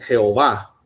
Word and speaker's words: Jehová: 60, En vez de poner Yahweh, ellos ponen Jehová. Pero como les dije yo, una de las clases que tuvimos, en realidad la pronunciación del nombre en sí no es, como